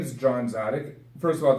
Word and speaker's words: Dziadyk: my name is John Tzadik first of all the last names hard to pronounce expecting to see this for a second there Franklin it's a silent deed but the main point